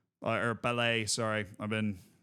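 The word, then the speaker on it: Pelé: like, well, this guy's basically going to be Pele. Or Pele, sorry.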